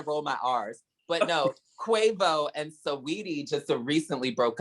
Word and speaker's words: Quavo: It's not Cuervo. Listen, Malik, you trying to put your own little spin on it, bitch. I mean, I don't say his name much, so... She's not in my vocab, so it's okay. It's Quavo? Yes.